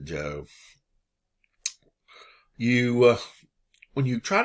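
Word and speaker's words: Zhou: it this way or you can write this way you still pronounce it joe you uh when you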